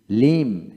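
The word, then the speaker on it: limb: না থাম থাম তারপরে এল আই এম বি লিম লিম এল এম লিম তারপর আসেন এন ইউ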